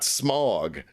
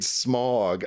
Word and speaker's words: Smaug: get to the Lonely Mountain, and you've got Smaug there at the Lonely Mountain. Yes. And this guy is just so sinister. Smaug's voice is so good, too. Richard Boone is the guy that played Smaug.